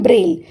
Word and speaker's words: Braille: इसे कैसे प्रोनाउंस करते हैं? इसे बोलते हैं ब्रेल।